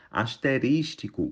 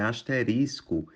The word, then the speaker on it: asterisco: O correto é esterilizar asterístico O correto é asterisco impecilho O correto é